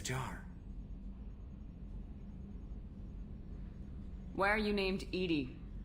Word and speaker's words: EDI: why are you named Edie Edie is the phonetic pronunciation of EDI that is an acronym for enhanced defense intelligence that's all for now